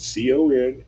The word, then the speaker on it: Confunkshun: We got a funny spelling on this next song. It's on the B side of our latest single, and it's called Confunction." And he said Confunkshun.